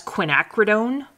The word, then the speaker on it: quinacridone: Quin colors, but that's quinacridone purple. And you can have a bunch of different quinacridones. You can have quinacridone blue, purple.